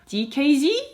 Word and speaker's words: DKZ: lineup and finally donkeys oh sorry no that's not how they're called anymore dkz dkz dkz that's how you pronounce it so in today's